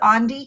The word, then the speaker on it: Andie: Um you pronounce my name Andi like Gandhi but without the G.